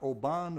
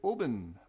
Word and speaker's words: Oban: it is um distilled it is not Oban OB aan o it is Oben Oben in Wales so I